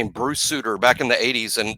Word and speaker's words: Suter: But no, I think it's Max Suter and he pronounced it like Bruce Suter, former Brave reliever.